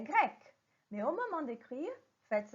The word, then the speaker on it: grecque: La prononciation est la même. Je vais dire il est grec, elle est grecque.